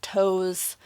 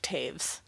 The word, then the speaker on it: Toews: I have a review that I will link up above where I say Miriam Toes, and I have learned recently that her last name, Toews, is pronounced Taves.